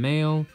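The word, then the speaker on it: Mayl: of land's childhood friend male or they call her meloo in the manga because that's just how her japanese name is uh translated but it's pronounced male and yeah they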